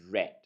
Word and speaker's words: read: So when we are looking at the past tense, we will pronounce it as read.